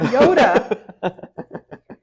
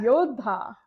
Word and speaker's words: Yodha: Yodha. It's not Yoda. He's fighter. Yodha.